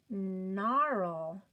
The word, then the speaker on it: gnarl: G at the beginning of the word followed by the N. Oh, it's going to be silent. So mark him out.